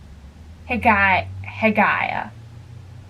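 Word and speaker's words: Haigha: happy his name is heg heaya he pronounced it so it so as to rhyme with mayor hey he I guess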